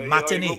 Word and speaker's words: matinee: Matinee.